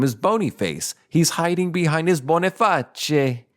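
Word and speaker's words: Boniface: a stroke his successor bonae spelled b o n i f a CE like bony face but since it's Italian it's a bona his successor his successor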